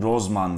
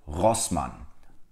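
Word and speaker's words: Rossmann: bir telaffuz değil Ama birçok insanın rozman dediğini duyuyorum yine bildiğiniz üzere bu marka bir Alman markası arkadaşlar ve Almancada ikisi yanyana geldiğinde her zaman Sevgi okunur iyi bilmemiz gereken bir şey daha var o da almancanın resit Türkçe'deki gibi vurulan bir değil daha çok arkalardan gelen bir ağır Yani bu markanın doğru telaffuzu was Man was MAN MAN 2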